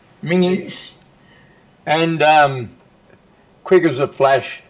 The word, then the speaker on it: Menzies: of course you realise your name should be pronounced Menzies."